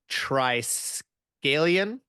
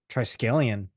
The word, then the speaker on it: Triskelion: And he is the master thrall of the planet Triskelion. Triskelion. Did I say it right? Think so, yes. Triskelion or Triskelion? Triskelion? Triskelion, yeah. Yeah.